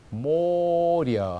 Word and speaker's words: море: 그다음에 바다도 모려 하면서 예라고 하지 않고 여처럼 발음하면 되고요.